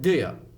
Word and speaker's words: do you: So we heard that do you, they pronounce it just like do ya.